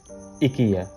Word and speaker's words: IKEA: IKEA, also pronounced as IKEA, যেটা Swedish accent for আইকিয়া।